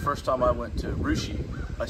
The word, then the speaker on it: Russia: up here so I I understand the the mispronunciation of the places though cuz the first time I went to rushi I said Russia is what it looks like yeah Russia Russia